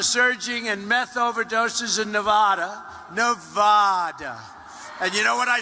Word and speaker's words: Nevada: I said when I came out here, I said, nobody says it the other way. It has to be Nevada, right? And if you don't say it correctly, and it didn't happen